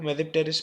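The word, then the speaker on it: Tmesipteris: वह एस जो sorry T जो है वो मेप टेरेस में साइलेंट है इसमें जो है व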